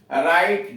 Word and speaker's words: write: राइट, WRITE, राइट, लिखना, W silent है।